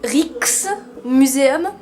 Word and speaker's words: Rijksmuseum: Et nous avons voulu visiter le musée Van Gogh et le, attention prononciation, Rijksmuseum.